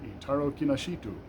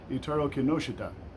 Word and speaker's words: Itaru Kinoshita: I read a manga, Dinosaur Sanctuary number eight by Itaru Kinoshita. Er No, I'm sorry. I said that wrong. Itaru Kinoshita.